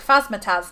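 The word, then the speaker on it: Phasmatys: I say it like Phasmataz because it reminds me of Razmataz, and I like that.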